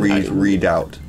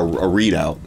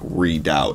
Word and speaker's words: redoubt: red out red readout I think that's pronounced reduction redoubt it's not like a readout well I think maybe